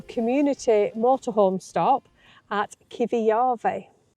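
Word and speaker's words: Kivijärvi: So, we've just had two nights at a little community motor home stop at Kivi Yarve. And it is actually pronounced exactly like that.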